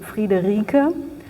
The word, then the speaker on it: Friederike: I was often asked um asked how this name is pronounced um in German, so it would be Friederike.